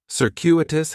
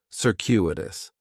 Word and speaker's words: circuitous: Circuitous has 4 syllables, and there's a few things going on with the pronunciation. In the first syllable, that C is going to have more of an S sound, circuitous. The stress is going to be on that second syllable, and that CU is kind of like you're saying the letter Q, circuitous, circuitous.